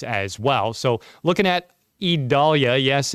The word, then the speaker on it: Idalia: well so looking at idalia yes it's an e not an i e Dahlia that's how it's spelled